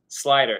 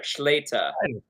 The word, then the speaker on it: Slyter: Slyter, Slyter. Is how they say it in Amsterdam, which means to close a business deal, to slide a door close.